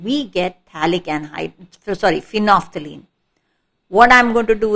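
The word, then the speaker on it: phenolphthalein: is known as phenophthalene it's not phenol phthalene it's phenophthalene the l here is silent also these are bonds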